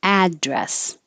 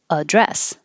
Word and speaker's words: address: at the end genuine if this is a noun the stress will be on the first syllable address if it's a verb the stress is on the second syllable address and the add changes to ud address address extraverted or